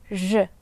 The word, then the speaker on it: ж: We pronounce it as English letter S in such words as pleasure, measure, j, j, j.